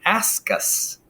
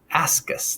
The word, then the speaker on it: ascus: spores in something called an ask us don't tell us just ask us that's how you remember how to pronounce it and if you look